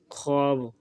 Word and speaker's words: خواب: وقت انہیں لکھتے ہیں۔ فارسی الفاظ کی واو معدولیہ جو خ کے بعد آتی ہے، مثلاً خود، خواب، خوش، خوش، خواجہ وغیرہ، تلفظ میں نہ آئے، اس کا شمار نہیں ہوتا۔ تختی میں خود، خواب،